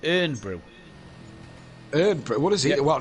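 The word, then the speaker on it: Irn-Bru: it but he says it's technically not iron because there's no o in the word which a fair argument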